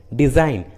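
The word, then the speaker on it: design: उसी तरह फॉरेन, डिज़ाइन, देखिए दोनों इंग्लिश वर्ड्स में जी एन के पहले आया है, इसलिए रूल के अनुसार जी का उच्चारण नहीं हुआ है।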